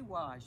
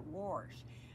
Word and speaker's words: wash: to do the wash most of us can say wash but many texans call it warsh i think it's like they put an o and an r in the middle of that word somehow but now you know